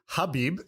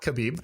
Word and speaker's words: Khabib: So the background for anyone listening, Kabib, his name's Khabib, Nurmaga made, what is it? So I I learned it. So his So it's actually Khabib, not Kabib, even though even though it's a K.